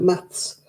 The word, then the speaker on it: maths: one word why math it's not math it's math with a st on the end of it you're not good at math you're good at maths yeah they don't say